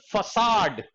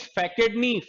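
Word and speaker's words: façade: Next हमारे पास जो है वो है एफेक्टेशन फसाड। इसका ध्यान रखना, प्रोनाउंसिएशन इज फैकेडनी, फसाड।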